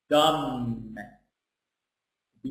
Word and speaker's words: dumb: I talk about here here's what dum dum B is silent very B here is silent now pay